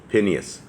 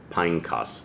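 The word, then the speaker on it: Phinehas: hill that belonged to pineas pineos is how that's actually pronounced his son which was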